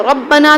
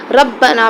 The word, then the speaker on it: ربنا: جیسے ربنا میں جو را تھی ربنا کی را کو موٹا پڑھنا تھا، ہم نے اپنے غلط تلفظ کی وجہ سے اور تجوید سے ناواقفیت کی وجہ سے اسے ربنا پڑھ دیا، ربنا تھا ہم نے ربنا پڑھ دیا.